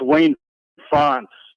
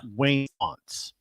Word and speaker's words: Wayne Fontes: It's not Fountains of Wayne. Yeah, it's Wayne Fonts. Graham. Hey, Corey. Okay, Corey's gone. It looks like Fontes. It's Fontes. Yeah. Wayne Fonts.